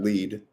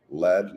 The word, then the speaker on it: Lead: Deadwood then you got lead I thought when I first saw it I thought it would be pronounced lead like you know gold zinc lead now it's called lead so you got lead